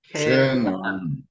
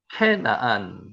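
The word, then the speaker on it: כְּנַעַן: 그래서 우리는 가나안 7조, 가나안 민족 계속 성경의 구약에 나오는 가나안 인조 케나안이라고 읽혀집니다. 한번 읽어 보세요. 케나안 케나안 캐나안 이렇게 뜻이죠. 케나 케나안 캐나안 낮은 곳 있으라는 뜻도 있고요.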